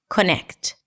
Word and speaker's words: connect: So the word connect is very likely to be pronounced as connect with a little tiny O sound in between. Connect. Now, first we need to see what is the primary stress. Is it connect or is it connect?